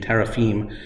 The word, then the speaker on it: teraphim: which in Hebrew is the word teraphim or teraphim to be more accurate pronunciation teraphim that belonged to her